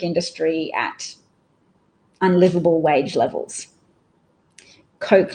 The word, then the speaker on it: Koch: Coke like the pop. Okay, Coke like soda.